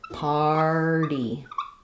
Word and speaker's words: party: This is a word where the AR does say the R sound, so it is just like the word part or car, far. We have the R, flap T, and then the Y says the E sound. So it sounds like party. First syllable stress, party.